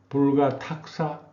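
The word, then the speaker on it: 不可度思: 신지격사 불가도사 불가탁사. 이게 무엇을 짐작한다 그럴 때는 탁이라고 읽어요.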